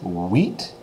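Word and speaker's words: huit: set and then this number eight is wheat wheat barely touched the T though so it sounds like the field of grain that we have growing out there by the farm like wheat like a wheat field okay so wheat wheat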